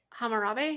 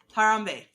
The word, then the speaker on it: Harambe: that our reality's anchor creatures was the ape hamurabi is that how you say it is that